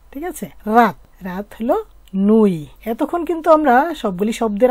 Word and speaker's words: nuit: আর নুই বানানটা তো একেবারেই সহজ, এন ই নু ই তে ই নুই, তে উচ্চারণ তো হবে না।